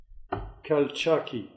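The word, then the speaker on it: Calchaquí: from cal cal q couch q valley how do you say that uh couch i have two i must speak spanish so i have to call khal chakki but let's say dom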